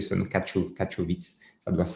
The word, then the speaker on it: Katowice: Ne me demandez pas le nom de la ville parce que je serais incapable de prononcer ce nom, Katowice.